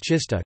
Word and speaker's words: czysta: Polish words czysta, clean, f, pronounced with an affricate, t, and trzysta, 300,